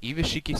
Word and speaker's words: Gishki: Gishki Shadow and Gishki Fushigi Gishki, they're pronounced Gishki, I just call them Gishiki, whatever.